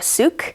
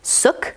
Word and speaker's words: Suk: my tbr video as suk but she kindly provides a little note on the dust jacket in the back that it's pronounced uh soup with a k so sarah suk and